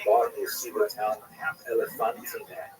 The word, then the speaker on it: Elephantine: I always pronounce that, by the way, Elephantine. So look more carefully. I think it's supposed to be pronounced Elephantine. Maybe someone in the comments will correct me if I get that wrong.